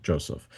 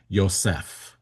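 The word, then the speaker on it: יוסף: In Hebrew, his name is Ysef. Ysef. In English, we we say Joseph. We put the accent on the first syllable. In Hebrew, you put it on the second syllable.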